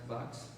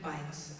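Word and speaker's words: Buycks: Is it pronounced Bucks? No? Phonetically Bikes. It's Bikes. spelled B-U-Y-C-K-S, but phonetically B-I-K-E-S.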